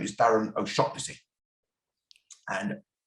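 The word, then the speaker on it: O'Shaughnessy: real name is darren o'shockpussy and in limerick that's often pronounced oh shanicey my grandfather my father's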